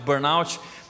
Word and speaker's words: burnout: mim e disse Thiago Eu estou com Burno eu demorei um pouquinho para entender o que ela tinha mas eu descobri que se tratava de um Burnout então assim eu também tô pronunciando errado não sou americano né mas é Burn out e talvez você diz